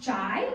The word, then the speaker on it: chai: other is to ask, is it pronounced chai or cha? If you don't understand, that's because there's different ways to say it in different dialects, and people will get very passionate.